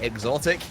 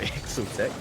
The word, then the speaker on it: Exotic: Exotic is the correct way you pronounce that name, not Exotic.